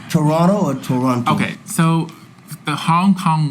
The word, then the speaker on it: Toronto: Toronto or Toronto? Okay, so the Hong Kong way is Toronto. Toronto. Okay. Yeah, but the Canadian way, I think, not to offend anybody in Canada, is Toronto.